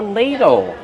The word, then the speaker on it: ladle: Ladle, use a long A sound like pay and say, lay, ladle. Use a fast D and a short sound O like in table, ladle, ladle.